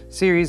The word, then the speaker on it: Ceres: case the series 500 I know it's c-e-r-e-s but thermaltake assures me that that is pronounced series and I first looked